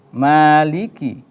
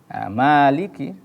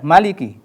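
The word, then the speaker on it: مَالِكِ: sahabat mengaji yang berbahagia Maliki Maliki perhatikan emaknya harus jelas pengucapan mad thobinnya Ya jangan salah atau jangan keliru Jangan dibaca Maliki karena yang kita baca adalah riwayat hafal jadi tetap dibaca panjang karena kadang kita mendapati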